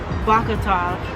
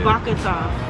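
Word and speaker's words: בוקר טוב: So good morning in Hebrew is Bakatov. Yeah. Bakatov.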